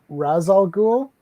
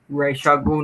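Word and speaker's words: Ra's al Ghul: too wrong it's like saying that um people pronounce actually right racial guru yeah i used to say i used to say rasal ghoul but i had no offender says race racial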